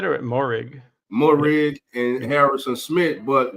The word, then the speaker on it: Moehrig: How you pronounce it? You said it, Moehrig.